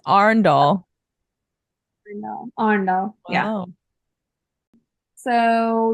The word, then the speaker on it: Arendal: Arendal. Ondal? No, that's like It's not Arendelle? Arendelle? Arendal. That's how they say Arendelle. That's you said that with a Texan flair. Arendelle. Arendelle. It's Arendal.